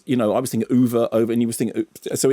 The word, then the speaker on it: Ove: between the two and the Swedish pronunciation is going to be open to interpretation as far as we cancern so when I was watching oov isn't it yes it is and the closest I